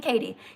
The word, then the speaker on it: Kadie: Is my name Katie? Yes, but it's spelled Kadie.